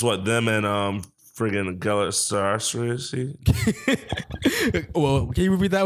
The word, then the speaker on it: Galatasaray: Galatasaray. Oh, that's how you pronounce it.